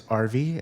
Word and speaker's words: RV: My name is RV, and if you ever would like to remember my name, just think of the recreational vehicle, the RV. It's the exact same pronunciation, and I do not take offense to that.